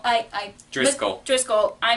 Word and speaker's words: Driscoll: recently saw the 1950s Treasure Island starting boppy triskele I Driscoll Driscoll I mispronounced this last time I'm sorry he's the